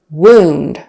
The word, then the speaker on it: wound: invite noun invite verb wound versus wound wound is the noun wound with a long u kind of sound wound he had a